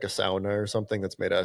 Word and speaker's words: sauna: Say, how do you pronounce sauna? Sauna. That's how you pronounce it. That's the Finnish. It's a Finnish. They invented it. That's how they pronounce it.